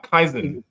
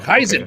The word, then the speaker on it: Kaizen: That's a Kai engineering is uh ah Kaizen. Wow. Kaizen. Kaizen. So off. Sorry. How do you spell that?